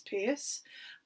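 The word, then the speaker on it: Peirce: so saw is um purse sometimes also pronounced as pierce and these two men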